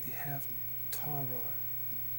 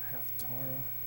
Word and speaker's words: Haftarah: I guess it's pronounced like Torah, Haftarah.